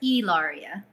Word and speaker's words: Hilaria: or hilaria ellaria sorry e-lauria h is silent okay h is silent